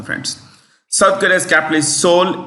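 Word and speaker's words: Seoul: South Korea's capital is soul s e o u l s e o u l Soul the E is silent Soul United States we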